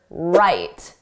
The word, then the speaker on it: write: Just like in the word write, the W is silent.